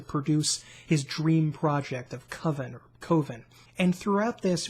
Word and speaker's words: Coven: no budget horror movie called a coven or excuse me covin as they ridiculously pronounced it and it's gonna be